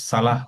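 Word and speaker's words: صلاة: হ্যাঁ, ওয়াটা অনেকে উচ্চারণ করে, যদি ঠিক মতো না জানা থাকে এটা আসলে উচ্চারণ হবে না। জি জি জি জি জি। হ্যাঁ, এটা সালাহ বলতে হবে, হাইয়ালা সলাহ।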